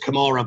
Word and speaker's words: Kamara: then there was it i know it's pronounced kamara but the joke is it was a camera finish for fulham you know he knocked